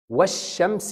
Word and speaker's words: والشمس: إذا وجدت السكون على اللام انطق اللام وهي لام قمرية. إذا لم تجد السكون لا تنطق اللام. إزاي؟ والشمس وضحاها.